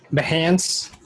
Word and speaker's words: Behance: Is it pronounced Behance or Beyonce or Beyonce? Behance.